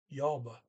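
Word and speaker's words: jobbe: et and it is group one so j-o-b-b-e yabba um to work yaber um is i work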